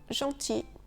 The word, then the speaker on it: gentil: un seul L, IL, il peut parfois se prononcer I. Un outil, un fusil ou un enfant gentil.